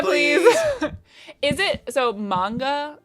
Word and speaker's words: manga: Manga, please. Is it so? Manga is the correct way to say it, not manga.